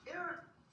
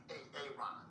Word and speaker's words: Aaron: Now, A-ARON, where are you? Where is A-ARON right now? No A-ARON, huh? Well, you better be sick, dead, or mute, A-ARON. Aaron.